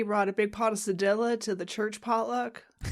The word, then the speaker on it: cedilla: but that's Sadilla. Sadilla. Barber. Sadilla. Sadilla. It's Sadilla. I want to say Sadilla because I learned it in French first, but the word for today is sadilla, which I want